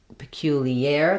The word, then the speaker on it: peculiar: We have peculiar. The stress is on the air syllable, spelled with AR. So that has the air diphthong, and then we have our itty ending, flap T, lax I, tense E.